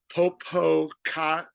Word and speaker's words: Popocatépetl: And so this is called El Popo, but the actual way to pronounce it is Popocatépetl volcano.